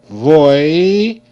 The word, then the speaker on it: voice: decar Vo v o voice voice voice e is silent c coming for e i y made s sound C coming for a